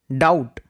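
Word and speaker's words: doubt: আজকের ভিডিওর next word হচ্ছে ডাউট। ডাউটে be silent.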